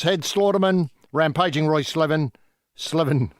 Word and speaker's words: Slaven: Slaven, new pronunciation. Make note of that.